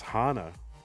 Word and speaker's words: Hana: The real question is it pronounced Hana or Hana? It's It's Hana.